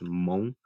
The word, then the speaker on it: Hmong: m o n g the h is silent so it's monk um in hmong spelling